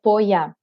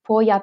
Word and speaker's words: poya: the alpine huts and this is called the poya it's spelled p-o-y-a and it really is the event